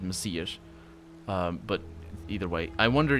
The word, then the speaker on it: Messias: That's how it's said in Portuguese. Messiah is the English word with an H at the end. But in Portuguese it is Messiah. It's read Messias.